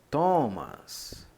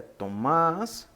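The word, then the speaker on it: Θωμᾶς: teta e prosseguindo temos thomas thomas ou Tomás Tomás a pronúncia é essa tô mas Alguns falam Thomas mas o correto é Tomás que significa Tomé e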